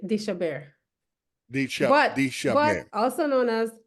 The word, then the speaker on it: deChabert: it's just that it's deChabert. It's a French name, so that's the French pronunciation, deChabert.